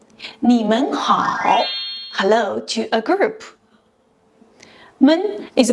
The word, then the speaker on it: 们: Men is pronounced with neutral tone, which is light and short.